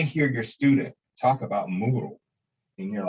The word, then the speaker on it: Moodle: As you see, it's spelled like noodle, but it's Moodle.